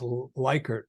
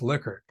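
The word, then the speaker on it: Likert: my presentations said will I'm pretty sure it's liquor I said no way and um so then I did some investigative work and uh I found that the daughter of liquor says it's liquor and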